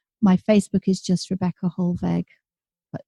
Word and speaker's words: Hollweg: My Facebook is just Rebecca Hollweg, but it's a W, pronounced like a V.